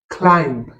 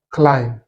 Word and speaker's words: climb: Pour ces mots, le B n'est pas prononcé. Donc, ce mot, ce n'est pas bomb, c'est tout simplement bomb. It's a suitcase bomb. Pareillement, ceci, ce n'est pas climb, c'est tout simplement climb.